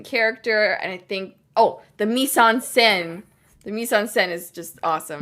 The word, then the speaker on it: mise-en-scène: And I think, the mise-en-scène.